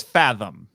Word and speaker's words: Fathom: Oh yeah, the classic Venom event. Mm-hmm. I think I said Venom. I don't know if I'm saying it right. It's Fathom. Fathom event. Yeah, Fathom. Yeah. Like the beast with 20,000 fathoms, Yeah.